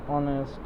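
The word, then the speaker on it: honest: আচ্ছা, ভাওয়ালের মতো উচ্চারিত কনসোনান্টের পূর্বে এন বসে, যেমন এইচ দিয়ে দেখো আওয়ার, এই যে উচ্চারণ তো হ হওয়া উচিত, হচ্ছে না, হচ্ছে কি আওয়ার। অনেস্ট, ও অনারি।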